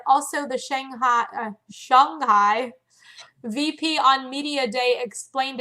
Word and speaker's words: Shanghai: I'm like, oh my gosh, I always have like the long A and I didn't say it right, but she was saying it like it's more of an O sound.